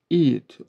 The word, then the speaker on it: eat: It değil, eat. Aslında orada y harfinde i ile ve t arasında koysaydım tam okunuşunu verirdi diye düşünüyorum.